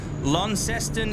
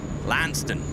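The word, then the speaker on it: Launceston: what else have we got Byron Bay Adelaide Lon ceston if he's watching in Tasmania that's brand Leonard or if he's watching from Cornwall lanston lanston the correct pronunciation which we just yeah it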